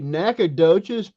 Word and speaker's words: Nacogdoches: So, since you brought that up, neighbor down the street, how do you pronounce that town that you're from? You and Jim. It'd be Nacogdoches, it's known as Naca Nowhere.